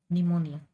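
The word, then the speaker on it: pneumoniae: आता याच्यात पीचा उच्चार नाही करायचा. निमोनिया.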